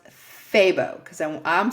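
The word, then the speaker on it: FEBO: It's spelled F E Bo, but the guy at Yarn and Hook told me it's pronounced Fabbo cuz I I'm saying Fibo.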